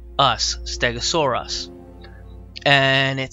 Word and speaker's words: Stegosaurus: oh oh a CH sorr SOR e us Stegosaurus and it says up to 30 feet in